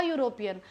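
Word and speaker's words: European: पर आप लोग सब बता रहे हो अ यूरोपियन। एंड I believe कि आप सबको समझ आ गया इसका मतलब। अगर मैं यह देख रही हूं ई है पर मैं बोल रही हूं यूरोपियन या यूरो आगे मतलब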